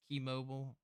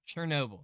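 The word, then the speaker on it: Chernobyl: this movie it's good keymobile KOB oh I'm saying it wrong chern Noble sorry chern Noble uh earlier revealed he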